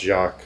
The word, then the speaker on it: Jacques: I do know it's pronounced Jacques.